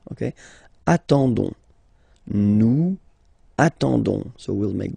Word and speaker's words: attendons: nous, so O-N-S, okay, you don't pronounce the S, so you get only this on sound, okay. Attendons, nous attendons, so we'll make the link between the two, la liaison.